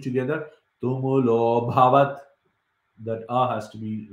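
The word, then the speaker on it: तुमुलोऽभवत्: So this A has disappeared because of a sandhi. So you should not be pronouncing it. Some people say it. Some people say sa shabdas tumulo abhavat. You cannot say like that. This A has been removed. So you have to say tumulo bhavat.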